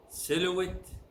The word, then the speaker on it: silhouette: hot sound is silent H is silent in the following ways it's not pronounced our honest owner